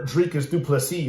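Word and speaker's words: Dricus du Plessis: last fight against um dreicus duplesses where um or drake is duplicity as he as he pronounces it um and he just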